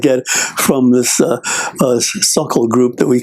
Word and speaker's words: Sokol: and drilling and stuff like that from this Suckle group that we call it. It's SOKOL, is the way it's spelled.